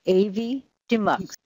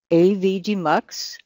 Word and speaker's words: Avidemux: asked that very question the name comes from Avi which is audio video inter leave and the term demux so putting the two together it's AV demux for videographer Pros Avi